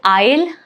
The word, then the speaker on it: isle: So isle isle island. All of these cases letter S is right before the letter L and that is why it is not pronounced here.